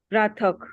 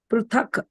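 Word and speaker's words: पृथक्: That word still you are not pronounced properly. Pruthak. Pruthak.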